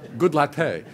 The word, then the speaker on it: Goodlatte: U I'm just Jing of course I could pronounce it and then you would know what it was yeah right exactly right goodlatte anyway uh Bob goodlatte uh he's a republican